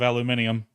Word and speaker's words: aluminium: They just up and decided to change it one day and then get mad at everybody for calling it aluminum instead of aluminium.